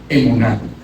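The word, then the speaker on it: אמונה: Ahora bien, esa palabra fe tan usada en el libro de Hebreos 11, la fe en hebreo se pronuncia emuná.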